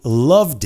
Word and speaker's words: loved: I loved it. Loved. Perfeito quem colocou só o D. Porque é love, vozeado, loved. Bota o D.